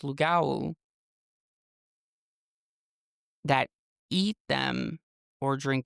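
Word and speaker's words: lougawou: It's pronounced Lugawu.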